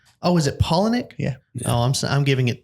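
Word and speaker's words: Palaniuk: Polaniak. Polonium? No, Polaniak. How do you say his last name? Polonic? Oh, is it Polaniak?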